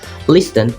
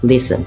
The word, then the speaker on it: listen: the T for example in pronunciations listen become listen soften BEC become soften Castle